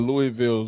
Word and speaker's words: Louisville: I'm shouting out Louisville Slugger. The Louisville Zoo. First of all, it's Louisville. Like I said, it's not Louisville.